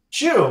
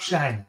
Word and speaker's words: Xu: name one more time sure like wearing a shoe okay and i'm from taiwan not shang i love chatting up